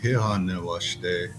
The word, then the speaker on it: Hehane Washde: The majority of people today, they would say Hehane Washde.